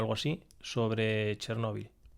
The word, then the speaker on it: Chernóbil: Vi un documental, creo que fue en Cuarto Milenio o algo así, sobre Chernóbil. O Chernobyl, como se pronuncia.